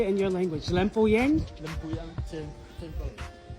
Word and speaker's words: Lempuyang: Lempuyang temple.